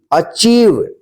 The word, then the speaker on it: achieve: एक साथ है, तो इसको क्या पढ़ेंगे, इसका उच्चारण ई होगा, तो इसको क्या पढ़ेंगे, brief. BRIEF, brief. SIEGE, seize. ACHIEVE, अचीव।